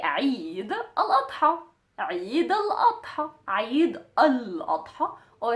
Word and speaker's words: Eid al-Adha: So if you wanted to say the celebration of the Adha, of the sacrificing, you would just say Eid al-Adha. Eid al-Adha. Eid al-Adha. Or Eid al-Adha.